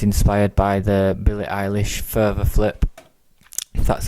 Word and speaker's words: PHRVA: there and it's inspired by the Billy ish further flip that's how you pronounce it um and we'll just have a